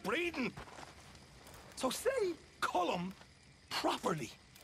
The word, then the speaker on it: Colm: not killing me let me tell you old comb oh he's a rotten fella not you as well it's not cold calm we say column well uh he likes comb he's American boy's